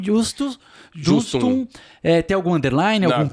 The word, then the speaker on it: Justum: E Justum é J-U-S-T-U-M.